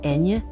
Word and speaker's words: eñe: Continuing with the alphabet from n to z, pay special attention to eñe, pronounced eñe. This letter is unique to Spanish and makes an ny sound as in España, mañana, and niño.